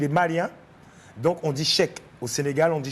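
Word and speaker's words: Cheick: Là, ça se prononce Cheikh parce qu'il est malien. Donc, on dit Cheikh. Au Sénégal, on dit Cher.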